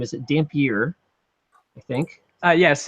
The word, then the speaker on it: Dampier: last name is a Dampier I think yes it's Mike damn pure damn pewter okay I said it right it's got a little Canadian flare named Pierre and then uh we